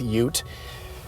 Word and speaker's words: ute: in these door pockets there's an adjective that kind of rhymes with ute and it's the word cute cute is something you